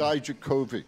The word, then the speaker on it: Dijakovic: Today, Tony Atlas, Terry Gordy, John Cena, Dominic, how do you pronounce his last name? I always screw it up. Dijakovic.